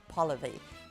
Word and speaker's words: Polivy: Today we're speaking to Polivy. Rhymes with policy, and policies on fundraising and board management is what Polivy is all about.